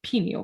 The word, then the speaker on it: pineal: they don't really know much about this pineal gland, what it was.